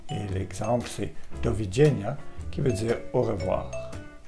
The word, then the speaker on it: doviđenja: Le D avec la petite barre se prononce comme un DJ, comme dans djellaba ou un jeans. Et l'exemple, c'est doviđenja, qui veut dire au revoir.